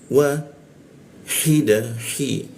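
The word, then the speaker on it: واحدة: 2 ketukan, lalu dibaca wa hida, hi, dijakun. Hi masuk ke da, gunakan ujung lidah ditempelkan ke gigi da, seperti itu ya. Nah, ada alif, ini artinya da-nya dibaca 2 harokat.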